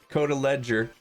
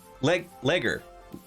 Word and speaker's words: Coda Ledger: For future reference, if you care to remember, it's pronounced Coda Ledger with a hard G. Legger.